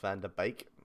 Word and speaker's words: Van de Beek: decades i'm real um van der beek is pronounced van der beek i'm happy with vanderbilt